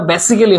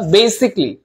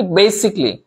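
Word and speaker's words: basically: শুনেন এটার উচ্চারণটা একটু বলি, বেসিক আর বেসিক্যালি না, এটার উচ্চারণটা বেসিক্যালি হবে না, বেসিকলি। বেসিকলি উচ্চারণটা কি? বেসিকলি।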